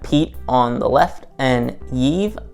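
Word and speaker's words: Yve: We have Pete on the left and Yive, I believe is how it's pronounced, on the right. It's spelled Y-V-E.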